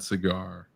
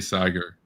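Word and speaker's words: Saagar: with crystal inside with kgb crystal and sad cigar yeah i just realized his name actually is pronounced that way but it sounds like a cigar no i know his name is actually sagar so i'm i'm clearly stuck in the anglo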